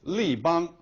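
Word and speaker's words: 立邦: paint company in chinese li bang now li bang is the mandarin way of pronouncing and the name of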